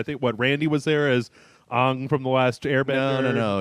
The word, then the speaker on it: Aang: And it's not Ong. Ong is how they pronounce it in that fucking movie. oh, okay. It's Aang. Aang. Okay. Yeah. Ong is some sort of Shyamalan bastardization. Oh, okay.